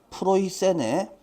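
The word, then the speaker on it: Preußen: 프시아는 어 영어식 발음이고 자 독일식 발음으로 읽으면 그냥 프로이센입니다. 그냥 쉽게 말하면 고구려 백제 신라고 해놓고 어느 나라게라고 묻는 거랑 똑같은 거예요. 요렇게 생각하시면 되겠죠. 자, 그래서 프로이센의 어 루이제 공주와 연관이 있습니다.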